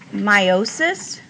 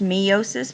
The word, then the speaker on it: meiosis: It's about meiosis. I have heard it pronounced meiosis, but I think the proper pronunciation is meiosis.